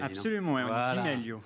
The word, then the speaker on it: Di Meglio: On doit pas prononcer le G d'ailleurs à mon avis. Absolument, ouais, on dit Di Meglio. Di Meglio.